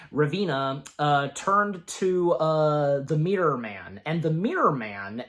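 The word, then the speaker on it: Ravenna: Basically, Revena, I think that, again, that's how her name is specifically pronounced. Revena turned to the Mirror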